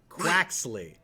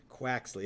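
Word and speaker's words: Quaxly: sprigatito Fue Coco and Steve how do you pronounce the duck quack Croxley quaxley exactly I'll never have it so I'm not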